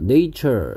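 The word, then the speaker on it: nature: 네이처의 형용사형은 뭐였고 이거였고 a의 발음이 얘는 정식 발음기호로 쓰면 애 발음이고요 뭐 한글로 굳이 쓰자면 그래서 내추럴 자연의 이런 뜻이었고 얘는 네이처 a의 발음이 발음기호로 정식으로 쓰면 a였고 뭐 한글로 쓰자면 a였습니다 갯벌 자연의 선물이었구요 자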